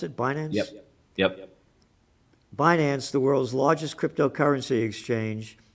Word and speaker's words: Binance: street journal front page another front page story binance the world's largest is that the way you pronounce it finance yes finance the world's largest cryptocurrency exchange said it we